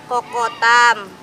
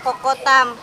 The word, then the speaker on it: Coco Thumb: Jadi gini teman-teman, ini namanya kelapanya itu kokotam. Salah tulisannya cocotum. Dibacanya kokotam. Jadi gini caranya bukanya teman-teman.